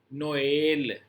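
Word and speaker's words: Noël: अगर दो वाउल साथ साथ आ रहे हैं, the trema indicates that each vowel sound is pronounced separately। अब हर एक वाउल को आपने प्रोनाउंस करना है अलग अलग। जैसे नोएल, ओ का साउंड अलग आएगा, ए का साउंड अलग आएगा।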